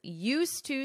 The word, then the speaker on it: used to: might we expect and how will a prince used to speaking out on issues adapt to the neutrality